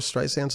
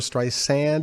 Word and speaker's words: Streisand: the pronunciation of barbra streisand's last name yeah it is barbra streisand and she makes that clear it's not barbra streisand like a lot of people say and actually just a